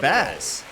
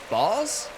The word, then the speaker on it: Baz: I thought it was Shane Baz. It's Boss. I've always pronounced his name wrong.